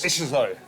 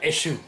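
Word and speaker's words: Échezeaux: Echezeaux. Eshizo. Eshizo. Eshizo, yeah. Not Eshu. Eshizo. Eshizo.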